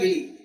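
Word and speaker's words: villi: Jejunum में होता है, जिसको हम कहते हैं विली या विलाय। कई लोग इसको विली कहते हैं, कई लोग विलाय कहते हैं।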